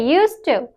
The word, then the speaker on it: used to: डी है ये वाली इसकी जो डी है इज़ साइलेंट ठीक है यह साइलेंट है इट इज़ प्रोनेंस्ड इज़ यूज़्ड टू ठीक है यूज़्ड टू नॉट यूज्ड टू ठीक है लिखा जाता है यूज्ड टू लेकिन बोला जाता है